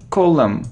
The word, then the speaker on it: column: We don't pronounce N and M, column, like here, column, look, column.